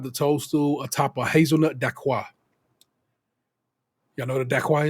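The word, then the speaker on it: dacquoise: So, word to her, Dawn on the dacquois, which is one of the French words that they are forced to pronounce right because ain't no English way you're going to get to it. They are made to say it correctly.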